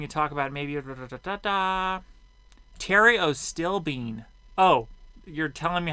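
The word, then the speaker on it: pterostilbene: bottles after hearing you talk about maybe uh Terios stilbene oh you're telling me how to pronounce this to work Theriot stilbene okay it's in the same drug family as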